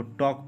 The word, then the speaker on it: talk: थोड़ा सा गौर करने वाली बात है, इसको हम लोग फॉक पढ़ेंगे, जैसे TALK, इसको हम लोग टाल्क नहीं पढ़ेंगे, इसको टॉक पढ़ेंगे। क्या पढ़ेंगे, टॉक, क्योंकि एल क्या रहता है, साइलेंट रहता है।